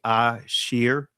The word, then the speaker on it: Ashir: And like here, if you read Israeli language, this would be Ashir, right? Is how this would be pronounced, because anyway, not going to get into all of that, right?